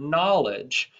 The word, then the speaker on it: knowledge: And it's similar to the word knowledge, also starts with a silent K.